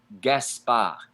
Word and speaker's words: Gaspard: peak P I see Gaspard Gaspard ends with a Deeb it's not pronounced in French gasp ah punching those words and